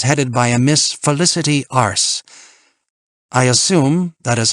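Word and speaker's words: Arce: her file your contact will be Miss Felicity ARS so that really is how it's pronounced my my Long Island June 2nd now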